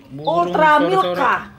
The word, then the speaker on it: Ultramilk: Ah, masih ada untuk salah aja nih yang Bapak ngomong pengucapannya beda. Yang benar. Ultramilka. Ultramilk.